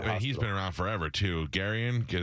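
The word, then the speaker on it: Gurian: Garion, is that how you say his name? Yeah, Jeffrey Guriam.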